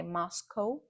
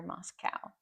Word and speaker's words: Moscow: I know in for you Russians you say Moscow which is good, but in English you'll hear Moscow. So next time you say I'm from Moscow, say it is cow.